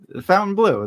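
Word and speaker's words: Fontainebleau: Fountain Blue. That's the American way to say it.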